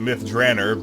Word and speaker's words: Myth Drannor: Um, as I recently discovered, uh, Ed Greenwood pronounces it myth Dranner, but um, we're going to keep with what we've been doing cuz we've already established the style.